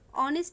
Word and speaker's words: honest: Students, notice that this word honest man, honest, here the first letter is H, but honest এর উচ্চারণ হর মতো honest-এ H এর উচ্চারণ হর মতো না হয়ে অর মতো হচ্ছে, যার কারণে honest এর পূর্বে অ্যান বসবে।